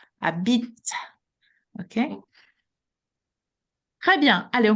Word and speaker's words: habite: What we can hear is the T. It's not the E that is at the very end, because that's what this final E makes. It makes the letter, the consonant just before pronounce. And this is what is happening with the T.